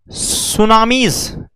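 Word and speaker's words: tsunami: ज्वालामुखी earthquakes है, volcanic eruption है, सुनामीज यह भी यही आती हैं। सुनामी यहां टी साइलेंट होता है सुनामी में।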